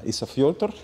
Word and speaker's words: Ísafjörður: Who's a young singer-songwriter from Ísafjörður. Yeah. Did I pronounce that correctly?